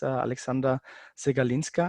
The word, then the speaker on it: Aleksandra Przegalinska: Especially we have two extraordinary guests, Aleksandra Przegalinska. I think I have pronounced it right.